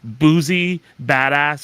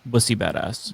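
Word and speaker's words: Boosie Badazz: Boozy Badass is one of those people. I think he's a idiot. Oh, it's actually it's pronounced Bussy. Bussy Badass.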